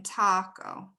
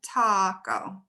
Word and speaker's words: taco: go to taco taco where's the stress is it the first syllable or the second syllable in taco oops yes it's in the first perfect and so what sound